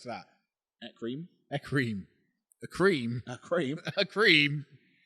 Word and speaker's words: Ekram: Do you even know it's pronounced Ekram? Well, how else would you pronounce that? Ekrim.